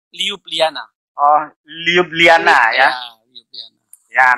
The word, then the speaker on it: Ljubljana: El Ju'ub Lazana. Ljubljana. Nah itu dibacanya apa? Jadi J dibaca Y. Ljubljana.